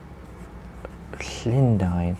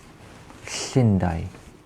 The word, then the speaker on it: Llundain: Basically, you produce the sound by putting your tongue to the roof of your mouth and just blowing and releasing air.